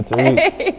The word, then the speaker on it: Tariq: I have a really heavy accent, so I'm going to try to pronounce his name or whoever's name. Tariq. Is it Tariq? Okay. Yeah, Tariq.